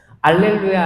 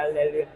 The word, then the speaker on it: 알렐루야: 알렐루야, 알렐루야, 알렐루야, 알렐루야, 알렐루야. 이것도 알렐루 할 때 입술이 어떻게 해야 돼요? 루 해보세요. 루. 이 입술이 튀어나와야 됩니다. 발음할 때. 뽀뽀 해봤어요? 뽀뽀, 그러니까 알렐루야는 약간 아에 이 오 우처럼 모음 발음이에요.